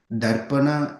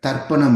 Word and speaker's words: darpaṇa: So darpana means mirror tarpana means different that we have to remember. So when we pronounce it we should not say means it just totally changes the whole program then.